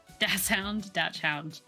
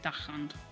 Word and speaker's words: Dachshund: Dachshund, yeah, is Dax, it says. It's a K-ish sound. Yeah, D-A-K-S. I know some people spell it D-A-X, but I thought that was just like a bastardization of the German.